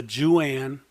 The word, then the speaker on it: Jooan: You could begin to start to get the Juan wireless IP cameras. These things are awesome. I use them. They are neat. It's spelled Jooan.